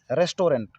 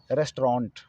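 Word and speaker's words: restaurant: anti रेस्टोरेंट पर देते रेस्टोरेंट इसका उच्चारण करते हैं सर रेस्टोरेंट जबकि इसका सही विचार होना चाहिए एक रेस्ट्रॉन्ट रेस्ट्रॉन्ट रेस्ट्रॉन्ट या रेस्ट ऑन रेस्ट्रॉन्ट यह रेस्ट्रॉन्ट अग्रवाल के झूलो झूलो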